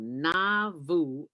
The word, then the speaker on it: Nauvoo: and a half hours south of chicago called na vu illinois am i pronouncing that right dwayne yeah you're pronouncing it